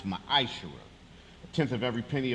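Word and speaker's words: מעשר: numbers 18:21 Malachi 38-10 means 10th in Hebrew and it's pronounce maish a tenth of every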